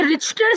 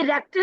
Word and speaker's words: Richter: मजे की बात है कि इसकी स्पेलिंग भी बहुत ज्यादा स्पेलिंग कॉमटीशन में पूछी जाती है। ये रिचर स्केल पढ़ा पढ़ा नहीं जाता। ये रेक्टर स्केल पढ़ा जाता है।